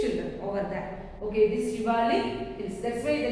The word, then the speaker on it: Shivalik: So it is pronounced as Shivalik hills.